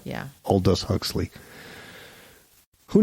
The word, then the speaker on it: Aldous: a novel written and published in 1932 by old ducks I'll do so I'm sorry old US Huxley that's a hard that's a hard first name to pronounce yeah Aldous Huxley who names your kid Aldous but the